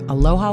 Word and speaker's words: Aloha: one must understand the origins of the state aloha got to pronounce it correctly Aloha kakahiaka that's good morning